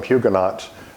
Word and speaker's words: Huguenots: when I called them Huguenots that's the way we pronounce it in South Carolina in France they would